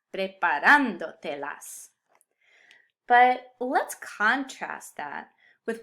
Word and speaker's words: preparándotelas: indirect object pronouns, and I still need the accent to keep the emphasis where it belongs. Preparándotelas.